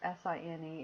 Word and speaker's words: sine: are pronounced and um for sine even though it's s i n e it still always said sine cosine is always said